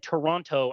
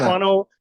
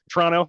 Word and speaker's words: Toronto: when I just said Toronto, I'm saying it wrong. Um, Toronto should be pronounced in somewhere between two and two and a half syllables. It's way faster. It's like Toronto. Toronto.